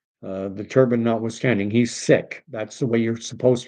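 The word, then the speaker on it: Sikh: Uh the turban notwithstanding he's sick. That's the way you're supposed to pronounce it. Sikism. That's the faith. Most Canadians say sik.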